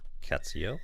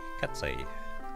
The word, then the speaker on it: Katsei: Oh, you don't pronounce the L then? Alright, Katsei. Katsei.